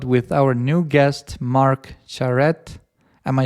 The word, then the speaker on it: Charette: Today we have a new episode with our new guest Mark Charrette.